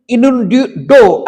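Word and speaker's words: innuendo: इन्यूंडो करके आता है, उसका प्रोनाउंसिएशन हो सकता कुछ और भी हो, लेकिन इन्यूंडो ऐसे करके उसको प्रोनाउंस करते हैं, ठीक है, वक्रोक्ति के द्वारा मानहानि है, ठीक है।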